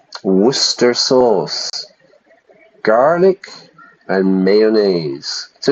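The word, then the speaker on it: Worcester sauce: that word difficult for for many people to pronounce Worster sauce garlic and mayonnaise so it's a very strong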